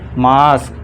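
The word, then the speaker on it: may: इसे मैं पढ़ना है। मई नहीं। फिर इसी तरह पी ए वाई पे पे डे।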